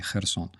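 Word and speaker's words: Херсон: This stuff is always read as Kha, like in Хортиця or Kherson. We don't say Kherson, no, we say Kherson.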